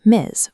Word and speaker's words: Ms.: It's pronounced Ms. with a buzzing Z sound at the end.